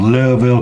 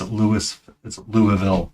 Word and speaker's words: Louisville: that you can barely figure out how many syllables are in a word from when someone speaks. When they go from Louisville, Kentucky, and you're like, how do you? It's Louisville, not Louisville.